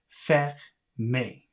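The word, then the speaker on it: fermer: So I'm guessing the pronunciation is fermé.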